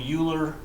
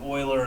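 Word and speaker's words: Euler: about this guy named uler and then Hearing in class about this guy named Oiler and I took me a long time to put together that that's the same person it's pronounced Oiler his name was Leonard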